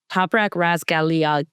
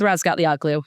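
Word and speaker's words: Razgatlıoğlu: It's Toprak Razgalia. The G is silent.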